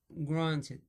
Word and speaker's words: granted: Un calque de l'anglais to take for granted. To take for granted. I try to pronounce this expression like native speaker. Yeah, to take for granted. On prononce pas le T. Granted.